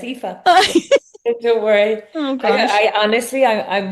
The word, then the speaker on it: Aoife: I've been saying I even after you pronounced it, I said Epha. It's Epha. Yeah, that's okay. You're close enough. Yeah, it's Epha.